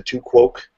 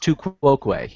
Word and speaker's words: tu quoque: I think he pronounces it the tuk quoque. It's pronounced tu quoque, yes. It's pronounced tu quoque, but he always mispronounces it, and he misuses it.